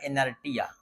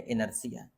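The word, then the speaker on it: inertia: तो पहली बार जब मैंने इस शब्द को पढ़ा था तो मैंने इसे पढ़ा था इनर्टिया, लेकिन यह है इनर्सिया।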